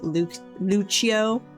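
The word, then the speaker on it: Luccio: Well, I pronounced it Lucio. The audio book then was pronouncing it Luchio, which actually makes more sense cuz it was like an Italian last name in the book.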